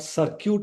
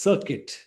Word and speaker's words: circuit: First one is not circute it is circuit.